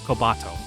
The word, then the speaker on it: Kobato: I imagined a bunch of, God, I really want to put the emphasis on the wrong syllable in his name. It's like hato, like pigeon, so it's like kobato.